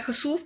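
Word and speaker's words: خسوف: है prayer of कुसूफ के एच का साउंड जो है खुसूफ का जो है साउंड वो लूना इक्लिप्स के साथ आएगा जबकि कसूफ नमाज़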